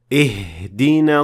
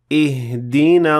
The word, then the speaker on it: اهدنا: اهدنا الصراط المستقيم. So as you can hear, I exaggerated the pronunciation of the ha, which will essentially empty your lungs of air.